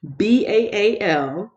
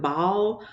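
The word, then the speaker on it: Baal: up two days ago that is the correct pronunciation of it baam you can pronounce it ball but from what I've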